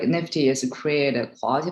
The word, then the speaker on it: NFTY: we're talking about today the nfty that we pronounce nifty came about we started